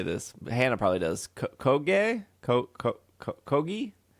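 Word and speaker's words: Kōgei: Kogi? Koge. Yeah, Koge.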